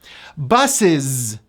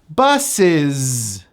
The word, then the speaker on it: buses: Buses. That final S is pronounced as a Z. Buses.